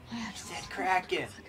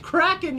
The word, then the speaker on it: Kraken: head audio tour cool Kraken she said it's pronounced cracking you maniac the heck there's one of the Pirates of the Caribbean movie pronounced as a kraken do they not I